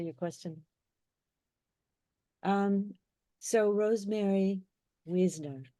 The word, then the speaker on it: Wiesner: question um so Rosemary Wisner spelled w s n r and as Rosie just explained to me it's from Hungarian and Czechoslovakian that it would be pronounced that way so Weisner she is a former